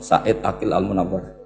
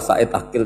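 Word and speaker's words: Said Agil Al Munawar: profor Said Ail almunawar memang bacanya harus urut Said Ail almunawar karena sekali salah saidil Sirat sebetulnya Enggak apa-apa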